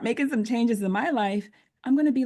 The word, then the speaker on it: LYFE: Of course, my business is called Life Balance, and it's spelled LYFE because it's an acronym for Love Yourself First Every Wow.